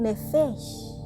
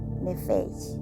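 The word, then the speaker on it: נפש: Tanto los animales, y bien, como el hombre, son nefesh.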